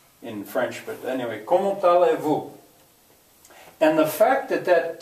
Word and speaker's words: allez-vous: Comment allez-vous? French is also full of silent letters. Why don't you hear the Z?